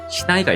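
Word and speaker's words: 竹刀: 마지막으로 보실 어휘는 예외 어휘인 죽도, 시나이가 있습니다. 죽도라고 하는 단어는 치크토라던가 타케카타나라던가 이런 식으로 읽는 게 아니라 시나이라고 하는 별도의 발음으로 읽으니까 주의가 필요해요.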